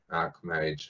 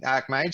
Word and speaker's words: archmage: But I think the correct pronunciation is perhaps like archangel, archmage.